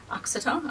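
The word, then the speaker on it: Uttoxeter: And we're also going to the Uxeter, I think it's pronounced, racetrack, where there's a British stitch show.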